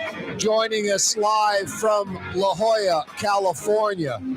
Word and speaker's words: La Jolla: his palatial estate in I think it's pronounced La Jala lajala joining us live from La Jolla California right outside San